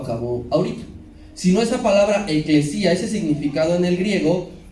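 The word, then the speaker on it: ἐκκλησία: La primera, la palabra iglesia, proviene del griego, eclesia, ¿sí? Se escribe E-K-L-E-S-I-A. Eclesia.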